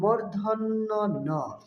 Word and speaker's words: ণ: থাকবে তারপরের বর্ণটি হল মূর্ধন্যন এ বর্ণটি অনেকেই ভুল উচ্চারণ করে মদিনার বা মধ্যান্য বিভিন্ন উচ্চারণ করে থাকে। আসলে সঠিক উচ্চারণ হবে মর্ধন্য। তারপরের বর্ণটি হল ত।